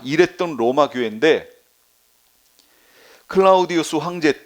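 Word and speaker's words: Claudius: 나왔나 그렇게 나왔어요 클라우디오가 근데 원래는 이게 로마 발음이 때문에 클라우디우스 해야 돼요 우스가 로마 발음이에요 클라우디우스 시대까지 이게 지금 4년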